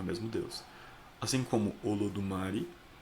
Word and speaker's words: Olodumare: Os Yorubás acreditam em Deus, mas no idioma Yorubá, a palavra Deus pronuncia-se Olodumare. Olodumare.